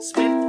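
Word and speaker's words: Psmith: While I know a fella who'll supply an umbrella, Smith with a silent P.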